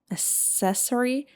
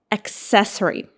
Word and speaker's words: accessory: What about the next one? How do you pronounce it? Accessory. No. Accessory.